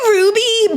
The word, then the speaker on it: RWBY: You say Ruby, but be if you don't know already because you're it's not written for you. That's why I clarified RWBY. But you would say Ruby.